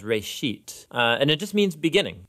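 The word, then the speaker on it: ראשית: of it's called genesis genesis comes from a hebrew word it's pronounced reishit and it just means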